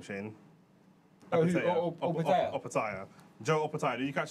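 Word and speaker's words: Opetaia: How do I pronounce his last name, Shane? Opataya.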